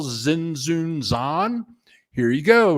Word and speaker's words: Tzintzuntzan: I mean, whatever, but it ends up that the T is silent. So it is pretty cool once you get by that. Tzintzuntzan.